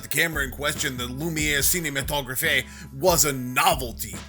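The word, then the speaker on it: Lumière: It's pronounced Lumiere, dumbass. Wait, when'd you get back?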